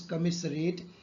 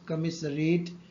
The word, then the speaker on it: commiserate: Now you can see one may pronounce as commiserate because there is a s is there, but in fact the real pronunciation is commiserate, or commiserate with somebody.